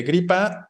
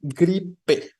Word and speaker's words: gripe: el concepto no existe no efectivamente gripa no es lo correcto Cómo tendríamos que decir más bien gripe no con e gripe Vale entonces gripa mal gripe bien no en concreto luego